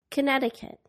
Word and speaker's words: Connecticut: silent be doubt debt the silent c muscle Connecticut the silent L walk talk